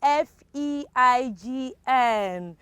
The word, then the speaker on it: feign: And the last one, FEIGN. Of course, that is pronounced as feign.